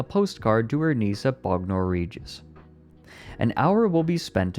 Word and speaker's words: Bognor Regis: Bognor Regis, then? Okay, so yeah, if it's in England, it's probably Bognor Regis.